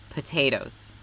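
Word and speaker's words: Pot8os: on say that again pop potatoes potatoes but it's spelled pot with eight O's oh famous racing horse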